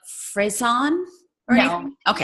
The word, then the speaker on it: Friesen: right when I say Friesen, right? Yeah. It's not correct. like Friesen or No, anything? Okay. not fancy. It's just free.